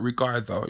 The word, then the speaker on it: Ricardo: His name was Ricardo, but Ricardo, like how to say it in Spanish, and he was a really, really great guy.